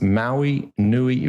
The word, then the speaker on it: Maui Nei: access now again that's Maui Nei Venison docomo and Maui Nei venison is spelled m a UI like the island in Hawaii Maui Nei nuui Maui